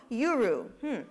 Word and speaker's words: Yuru: So next up, from Honolulu, we have a company called Yuru. It rhymes.